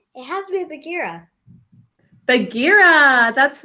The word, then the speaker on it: Bagheera: B-A, syllable break. G-E, syllable break. R-A. Bagheera.